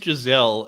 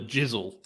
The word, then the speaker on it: Giselle: Her name's Giselle, and you call her Jizzle.